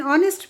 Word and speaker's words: honest: He is an honest man is incorrect क्योंकि honest का pronunciation जो है it starts with a vowel sound o.